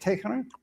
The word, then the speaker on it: Tehran: Tehran.